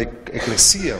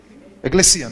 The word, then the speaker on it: eclesía: Y la palabra iglesia aquí es la palabra eclesía o eclesia, ¿cómo se dice en español? Eclesía, ¿no? Con acento eclesía.